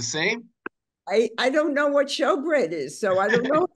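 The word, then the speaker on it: shewbread: So S-H-E-W is also show. But in any case, so I think the shoe bread is pronounced show bread.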